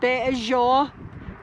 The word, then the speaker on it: Béʼézhóóʼ: is called the bajo uh this is called beijou and this is how it's spelled in the dna bazaar and basically the